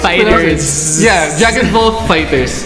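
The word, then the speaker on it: FighterZ: Dragon Ball Fighter Z. Don't say that. That's Dragon not how Ball you pronounce Fighters.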